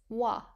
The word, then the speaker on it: は: Tasu 足す、 plus hiku 引く、 minus wa. は、 Wa uses the ha hiragana but is pronounced wa.